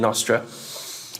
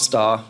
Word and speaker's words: Nostr: little vested interest in in Nostra not Star as it should be pronounced um was that me